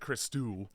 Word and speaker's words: Christou: So the guests of this episode, we got Christo. Yeah. Christou. Well, they pronounce it Christou.